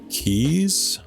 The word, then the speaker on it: quay: Apparently in UK Ireland, key is the standard.